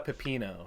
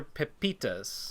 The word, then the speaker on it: pepita: is way worse isn't it no it's a pepito is a pumpkin seed not a pepino right pinot is like uh yeah copy and paste it i might be pronouncing it wrong even though my name is